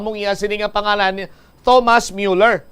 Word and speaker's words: Thomas Müller: iya sini nga pangalan Thomas Müller. Pero ang pronunciation sa iya sini nga pangalan sa German sa aton sini makabombo is Thomas Müller, no?